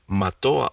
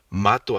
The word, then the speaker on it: mató: Now this one, it's supposed to say mató a 6 personas, también asesinó a su suegra. That's what it's supposed to say. But without the tildes, the stress falls into a different syllable. Mato a 6 personas.